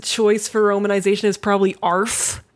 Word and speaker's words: Arf: You got to say it like Arf. that though. Arf. You got to say it like a bark.